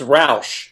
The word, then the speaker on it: Rausch: how do you pronounce that last name? I want to make sure I get it right. Yeah, it's Rausch. Rausch.